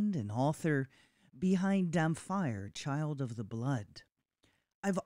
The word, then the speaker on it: Dhampir: Let's talk about, and correct my pronunciation, Dhampir. Dhampir.